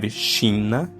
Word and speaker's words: China: We have shina. That's China. But remember the pronounces of the Portuguese vocals. E. China. Shina.